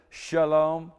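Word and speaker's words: שָׁלוֹם: Shalom.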